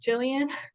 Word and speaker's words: Gillian: you this in advance my name is pronounced Jillian Jillian oh my goodness